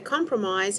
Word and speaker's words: compromise: Yesterday we learned that a compromise is a type of agreement where both sides are happy. Compromise has 3 syllables.